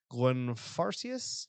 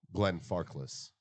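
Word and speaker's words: Glenfarclas: pronounced I think so no this is not an L Glenn farkless ah from here it looked like an eye yeah like Farkle is like Lord farquad yeah that's exactly yes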